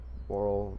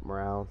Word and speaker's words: morale: Like, chart melee attack 15, melee defense 17, moral morale 7. I mispronounced moral. Morale, oh god.